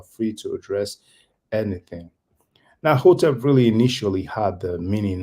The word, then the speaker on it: hotep: Some people pronounce it hetep because the transliteration for hotep is actually HTP. That's a H with a dot underneath. And the convention of Egyptology is to add the vowel E between two consonants. Hence why they pronounce it hetep. But most likely, because of the Greek, people will know that the first sound will probably be a O sound, just like what we